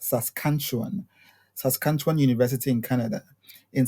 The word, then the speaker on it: Saskatchewan: So today we are in Canada at the University of Saskatchewan, pronounced Saskatchewan, Saskatchewan University in Canada, in search of master's and PhD opportunities.